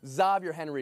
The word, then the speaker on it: Xavier: Xavier Henry is how he pronounces his name, Mariotti.